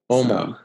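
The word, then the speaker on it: Åmål: Omal. So, yeah, it's spelled, AMAL, but both A's have a little circles over them, Swedish, so it comes out like an OU sound.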